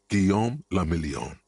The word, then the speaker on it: Guillaume Lamillion: For Revachol, your city, that meant only one thing: Guillaume Lamillion. If it doesn't rhyme, you're not pronouncing it right.